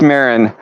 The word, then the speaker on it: Marin: talking Cheech Marin and I've been pronouncing it wrong the entire time I've been putting Martin I don't know why but Cheech Marin moves on five to